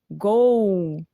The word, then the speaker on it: gol: para vocês notarem que a gente não pronuncia esse l no final das palavras como uma consoante o som é de um então o Brasil né Taffarel Gol Mas então gostando ou